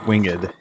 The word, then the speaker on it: winged: It's pronounced winged.